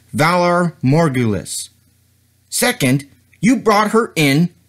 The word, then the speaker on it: Valar morghulis: do you think you're doing first it is pronounced Valar morghulis second you brought her in to the wrong